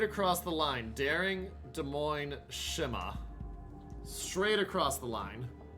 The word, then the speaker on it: Moines: Better salvo definitely is to the side of Monhouse Keel, even though it's not a lot. Moine. I mispronounced it there. Moine.